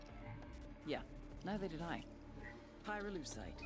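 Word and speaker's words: pyrolusite: him you know what pyrule side is right yeah neither did I pyrolucite key syllable pyro by the way is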